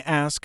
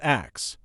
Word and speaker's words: ask: And here's a pronunciation-based mistake, saying ask as ax. It's very common in casual speech, especially in certain dialects, but if you're learning standard English pronunciation, you want to say ask, try it slowly with me, ask, not ax.